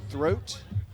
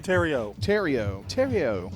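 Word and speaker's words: Theriot: And batting ninth, Carter Throat. Is that right? Terrio. Okay, so say it like that. Terrio? Huh? Terrio. Yeah, he's from Louisiana. That's why it sounds Frenchish.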